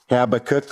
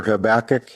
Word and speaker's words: Habakkuk: Habakkuk or Habakkuk, however you want to pronounce it.